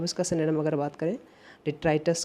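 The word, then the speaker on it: detritus: कुछ लोग इसे बोलेंगे डेट्रिटस, नहीं, इसे सही से प्रोनाउंसिएट करिए डिट्राइटस। डिट्राइटस, डिट्राइटस ये नाउन है, ध्यान रखिएगा।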